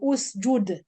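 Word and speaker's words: اُسجُد: I don't say isjud. Normally the people say it like this. It's u. Because the letter will be usju, the jim Dhamma. So usjud.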